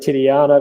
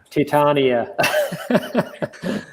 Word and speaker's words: Titania: Sorry, man, I said Titiana, but Titania.